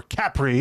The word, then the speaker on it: Capri: So like Capri or Capri, if you want to be an a-hole.